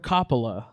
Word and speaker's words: Coppola: reason 1989's the outsiders directed by francis ford coppola and you said that did you say that